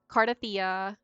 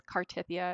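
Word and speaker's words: Cartethyia: So I think it was Cardathia, which I heard someone say her name is Cartithia, and I was so triggered.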